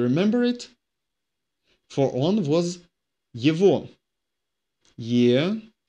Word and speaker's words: его: For он was его. Его. Written его, pronounced его, because o is emphasized.